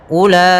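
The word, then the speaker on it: أولئك: lagi dari famaihuhum w pada bacaan ulaika di sini ada huruf wau yang dia ditandai dengan sifer mustadir itu lingkaran kecil nah ini lingkaran kecil di atas huruf itu namanya sifer mustadir sifer mustadir yaitu sifar link nol mustadir berbentuk bulat maka di sini ulaika pada lafal u itu tidak boleh dibaca Ula tapi langsung saja ke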